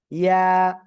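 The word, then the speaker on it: ياء: ঠিক এই জিহ্বার মধ্যখান, তারপর আবার উপরে তালুর সাথে লাগিয়ে জাস্ট এক আলিফটা নিয়ে আমরা উচ্চারণ করব। ইয়া, ইয়া, এভাবে আমরা পড়ব।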